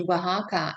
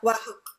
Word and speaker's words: Oaxaca: people came and just I crossed paths with, and they mentioned Oaxaca.